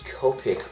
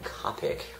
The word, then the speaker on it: Copic: Also, I will use Copic markers or some people call them Copic, whatever, whatever you want to call it, it doesn't matter.